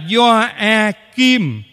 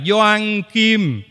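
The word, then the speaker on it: Gioakim: mở ngoặc tí xíu cái tên doa Kim nhiều người trong chúng ta đọc sai viết sai đọc là doa a kim chứ không phải là Doan Kim không phải là Doan Kim viết cũng vậy do a kim dính liền nhau chứ không phải là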